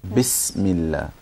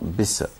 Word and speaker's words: Bismillah: In Bismillah, you can't bounce the scene. You don't say Bisa. Don't say Bismillah. Bismillah. Bismillah. Not Bisa.